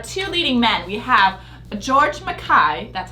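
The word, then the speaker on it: George MacKay: the Stars our two leading men we have George Makai that's how you pronounce it I thought that George Makai as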